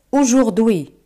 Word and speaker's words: aujourd'hui: La palabra hoy en francés es aujourd'hui. Aujourd'hui. AU se pronuncia como O.